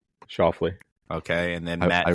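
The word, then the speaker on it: Schauffele: Shoffley.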